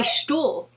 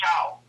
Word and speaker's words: Stull: That's why I trip on your name, is I want to say Stuhl. I don't want to say sta. No, actually, it's where I'm from, it rhymes with owl.